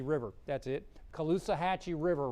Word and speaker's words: Caloosahatchee: let's see if I can say it right callus caloosahatchee River that's it caloosahatchee river right there in Fort Myers there's a